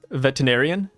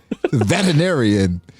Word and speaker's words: veterinarian: Veterinarian. Okay. Yeah, I put like emphasis on the T because I feel like my on the T.